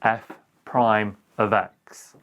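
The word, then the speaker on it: f′(x): apostrophe just after it we pronounce it f prime of x and it means the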